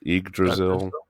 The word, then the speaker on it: Yggdrasil: How do you pronounce this? I think it's Yggdrasil. Yggdrasil.